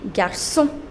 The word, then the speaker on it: garçons: So, you make plural by adding an S, but you do not pronounce that S. So, the singular form will be pronounced as un garçon, and the plural form would be des garçons. You do not pronounce the last S.